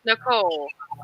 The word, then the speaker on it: Nichola: to confirm, Damian, that Nicole's name is pronounced Nicole. Oh, good to know. Yeah, the A is silent, and I think, and